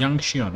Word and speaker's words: Yanqing: Yanqing, okay, this is how you pronounce his name.